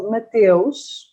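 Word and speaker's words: Mateus: a rose wine called matios i said it with the portuguese accent because that's how you say it um and it's nice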